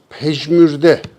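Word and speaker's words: پژمرده: Caleden sonra pejmürde, bu da Farça bir kelimedir. Pecmde bu defa J'yi ortada kullandık. Pejmürde.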